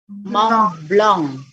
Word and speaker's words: Mont Blanc: Nah, kalau ketemu huruf N di belakang atau M bagi huruf mati di belakang, dia akan sengau. Jadi bacanya bukan Mont Blanc tapi dibaca apa? bukan blank. Mont Blanc. Blanc. Jadi karena suaranya kan A tetap dibaca A, ya kan? A. Tapi karena ada sengaunya jadi Mont Blanc.